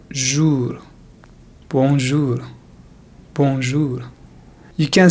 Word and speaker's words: bonjour: So here we have the vowel OU, which is pronounced as ou, ou. So it sounds like jour, bonjour, bonjour.